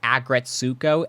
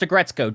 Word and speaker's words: Aggretsuko: Also, full disclosure, one of the first times I saw this automaton, I pronounced it as Agretsuko, and the internet nearly canceled me for that. It's pronounced Agretzko.